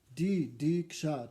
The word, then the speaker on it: diksha: Diksha, 2 syllables, diksha.